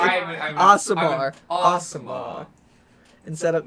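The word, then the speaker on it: Aasimar: and you are an ASMR, as we are learning Yeah, the correct yeah. pronunciation. I'm Asamar.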